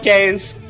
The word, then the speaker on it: Kaze: It is officially Kaze. I didn't want to say it wrong. It is officially Kaze, but I like to call it Kaze.